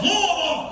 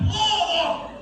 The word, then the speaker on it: Louisville: How do they say that? Yes, Louisville. Just put a roll in your mouth. Louisville.